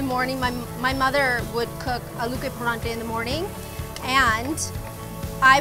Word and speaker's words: aloo ke parathe: Aloo ke paranthe. See, paranthe.